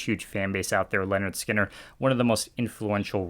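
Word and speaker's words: Lynyrd Skynyrd: is where it goes leonard skynyrd here with their debut pronounced leonard skinner um i honestly think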